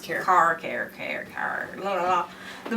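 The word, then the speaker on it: CAIR: It's pronounced CARE.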